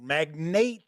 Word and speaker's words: Magnate: We're taking a look at Magnate, or Magnate, if you'd like to pronounce it that way.